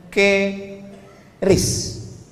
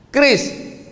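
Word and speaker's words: QRIS: Sekarang di pintu-pintu masjid, di pintu-pintu mall ditulis ada namanya ke ris qis. Cara bacanya gimana sebetulnya? Keris. Q-nya quick. Quick artinya cepat. R-nya respons. Kris quick response code.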